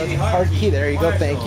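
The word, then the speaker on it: Hartke: I Heart can't key, pronounce baby. It. Heart key. There you Marshall. Go. Thank you. Heart key.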